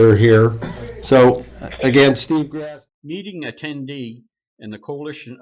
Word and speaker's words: Grasty: It is Grasty, and it's spelled like nasty, Grasty.